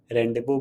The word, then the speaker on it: rendezvous: Next is this is my favourite, जो मैं हमेशा यूज़ करता हूँ, और हम इसे रेंडेवोर्स नहीं कहेंगे। The right pronunciation is रेंडेवो। सो रेंडेवो that means कि